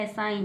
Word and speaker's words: assign: क्या बन गया, जी को साइलेंट रखेंगे, क्योंकि जी के तुरंत बाद एन है, जी के तुरंत बाद एन है, तो जी को नहीं पढ़ेंगे। तो क्या बन गया, एसाइन।